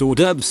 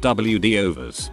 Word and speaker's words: hors d'oeuvres: That hors d'oeuvres isn't pronounced WD overs.